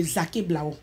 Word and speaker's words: Zaké Blao: Et le blanc est venu dire le Zaké Blao. D'accord. Sinon, la vraie prononciation est Zaké Blao.